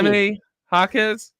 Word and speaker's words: Jaime Jaquez: And I'm talking about, I don't want to say his name wrong. Is it Haney. Jaime Jaquez?